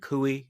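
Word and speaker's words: Coie: You have Perkins and Kooie. Am I pronouncing that correctly? Um Perkins Kuey. Yes.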